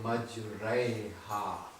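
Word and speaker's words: مجريها: You will twist your voice in pronouncing the alif and incline the alif towards the letter ya. So you'll say majraiha. This is called al-imala al-kubra. Complete twisting of alif towards the letter ya in the pronunciation.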